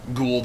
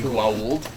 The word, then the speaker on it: Goa'uld: You'll hear it pronounced both ways, Gould and Goa'uld.